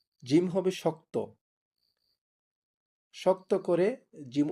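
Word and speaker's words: ج: আমরা কথা বলার সময় যেরকমভাবে স্বাভাবিকভাবে কথা বলি, জিম উচ্চারণ করার সময় আমার মুখটা থাকবে স্বাভাবিক, বেশি খোলা যাবে না। যেমন জিম, জিম হবে শক্ত, শক্ত করে জিম উচ্চারণ করতে হবে।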